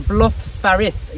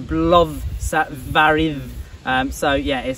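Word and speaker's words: Blóðsvarið: Now the Bloth Svarith, you pronounce that, the curly D with a TH sound, but it's like the V in then, so Bloth Svarith.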